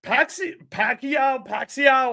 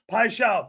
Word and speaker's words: Paixão: Pacquiao, however you say his name. Paixão, thank you.